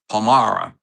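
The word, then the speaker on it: Palmyra: I just gave the correct pronunciation. Go ahead. Say it. Pomara.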